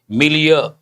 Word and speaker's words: milieu: It is a pronunciation M-I-L, mil. Then you have to use a ya sound, year. Milieu. Means a part of speech noun. People say milieu. Milieu is not correct.